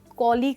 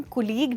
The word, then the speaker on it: colleague: मैं तुम्हें अपने कॉलीग से मिलाना चाहती हूँ। दोस्तों यहाँ पे याद रखिएगा, हम कुलीग नहीं बट कॉलीग बोलते हैं, ये इसकी करेक्ट प्रोनाउंसिएशन है।